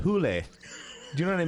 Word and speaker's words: Hole: Mr Sledgehammer but then it but but it's pronounced hulle do you know what I mean yeah and